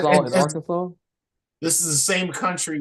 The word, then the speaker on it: Arkansas: You can be fined for saying this state name wrong. Really? So you need to say Arkansas instead of That's Arkansas. crazy.